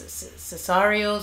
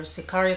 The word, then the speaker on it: sicario: I feel like it would be Cesario. Of course, no. Of course, I'm wrong. Sicario. Okay, Sicario.